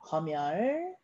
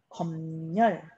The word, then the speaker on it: 검열: 자, 요 단어는 발음이 두 가지입니다. 자, 첫 번째 발음은 그대로 발음하는 거예요. 그러면 미음이 올라가서 금융, 얘도 미음이 올라가서 검열, 네, 이렇게 그대로 발음하는 게 원칙이고요. 니은 첨가도 일어납니다. 얘는 금융, 얘는 검열, 둘 다 맞아요.